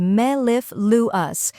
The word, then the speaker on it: mellifluous: the correct pronunciation is Mel luas let's break it down first we have me which sounds like the me in metal or Melon next is LIF which rhymes with stiff and is stressed then comes Lou which